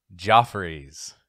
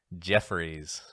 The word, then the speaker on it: Geoffrey's: Pacific Coast Highway is actually pronounced Geoffrey's not Jeffries because being fancy I'm